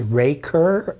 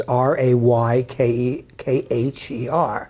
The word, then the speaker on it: Raykher: Now, someone could look at that first and say, okay, that's Rayker, right? Remember, it's Raykher. First of all, so we tell them that AY is always I.